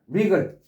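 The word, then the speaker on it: wriggle: W가 바람이 안 되는 리글 지렁이가 꿈틀거리다. 마지막에롱 나쁜 오늘 전체적으로 설명드린 것은요 두 가지. 첫 번째는 WR로 되는 것에 W는 발음하지 마라. 없는 것처럼 자신있게 찝찝하게 그냥 발음 안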